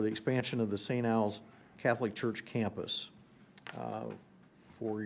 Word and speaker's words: Alphonsus: It's a rezoning for the Saint gosh, I know I heard how this is pronounced, but anyone want to help me out? Alphonse. Alphonsus, okay.